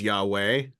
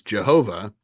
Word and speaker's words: Yahweh: from it is that the name of God is Yahweh um which was misinterpreted a long time ago as Jehovah um again calling back to Indiana Jones the Last Crusade um Jehova um but what was it in Greek or in Latin Jehovah starts with a y um but it's because